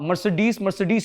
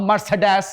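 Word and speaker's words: Mercedes: आप मर्सिडीज ही बोलेंगे, आप मर्सिडीज नहीं बोलेंगे। ठीक है, क्योंकि लफ्ज इंग्लिश का है ना।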